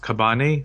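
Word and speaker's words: Cabane: by olivia fox uh i think it's pronounced kabane c-a-b-a-n-e uh charisma if the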